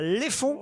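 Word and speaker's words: Leffonds: Virginie est en Haute-Marne, à Léfonds, je prononce bien ?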